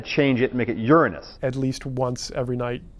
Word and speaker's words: Uranus: I'm making a joke Uranus strictly speaking it's pronounced Uranus is the the pronunciation now what happened was